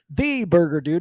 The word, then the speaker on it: Thee Burger Dude: Watson AKA Watson AKA The Burger dude it's actually just the burger dude so it's spelled t-h-e-e Burger dude on social media and website but it's the burger well yeah he had